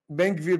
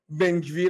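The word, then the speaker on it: بن‌گویر: بن-گویر؛ بعضی‌ها می‌گویند بن-گویر، آنها نمی‌توانند بخوانند. نام او به درستی بن-گویر تلفظ می‌شود.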